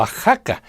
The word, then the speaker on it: Oaxaca: It sounds like J when we pronounce Mexico, Mexicali, Xalapa or Oaxaca; but it sounds like